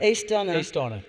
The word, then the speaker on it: Aosdána: Aosdána.